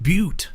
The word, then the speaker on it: Butte: grassy Butte and I'm very excited oh it's pronounced Butte yes not grassy bus okay it says grassy beautifu as in a